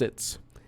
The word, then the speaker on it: XYTS: The eye monster that I created is called XYTS Zits, pronounced Zits, which is an alien species that grows in rather heavily vegetated planets.